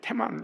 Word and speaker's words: 테만: 그런데 테만, 이 발음을 세게 악센트를 딱 넣으면 대만이 아니고 테만이라고 얘기가 돼요. 그래서 이 점 하나가 듣더라면 그 악센트를 넣어라, 그 말이에요. 테만.